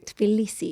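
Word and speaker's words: Tbilisi: It's Tibilisi. Yeah. Tiblissi. Tibilisi. Yes. Tibilisi. Yeah. I pronounce it.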